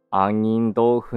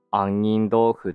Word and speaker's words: 杏仁豆腐: からできている杏仁豆腐の本来の正しい読み方は杏仁豆腐ではなく杏仁豆腐であるニューヨーク近代美術館